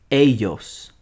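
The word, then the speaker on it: ellos: for a group of only girls they is a yos remember the double al l is pronounced like a y a for boys or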